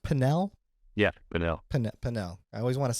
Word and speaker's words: Pinal: And again, it was Matthew Thomas out of, is it pronounced Pinal? Yeah, Pinal.